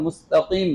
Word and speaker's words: مستقيم: মোটা করেন সিরা বলেন মস না মুস মিম পেশ মু মিমের উচ্চারণ গুল ঠোঁট গুল হবে মুস্তা মস না মুস্তা বলেন আরেকজন বলেন ইহদিনাস সিরাত আরেকজন